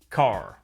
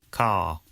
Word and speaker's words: car: father father car car notice that the final R sound is not pronounced in British English father ends in a simple schwa vowel like father and in car the vowel sound is lengthened in place of the r sound car now the thing about